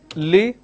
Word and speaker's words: listen: Lot of people make mistakes between the sir and the z sound. For example, if I have the word which is listen, the pronunciation is listen. So let me bring this closer. So the pronunciation is listen, but lot of people say listen. It's not listen, it is listen.